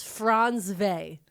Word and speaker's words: Frantzve: I watched a lot of videos, and how she pronounces it is Frantzve.